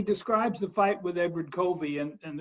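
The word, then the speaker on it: Covey: the fight with Edward Co V and the reason why I'm calling Koby is because that's the way his name would have been pronounced on the Eastern Shore he'd he just he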